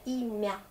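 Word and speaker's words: имя: Donc, par exemple, dans le petit mot Imya, c'est le prénom en russe. L'accent est là, mais je prononce quand même bien Imya. Ou Pole, c'est le chant.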